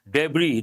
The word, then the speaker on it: debris: debris at the site debris the letter s is silent mean the small small